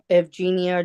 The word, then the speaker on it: Evgenia: This is the city of Detroit versus, it says Eugenia here. Okay. It's with a V. Yeah, and it's got a U on the, it's written right. So give me the correct pronunciation of that first and last name. I think I got it, the last name right.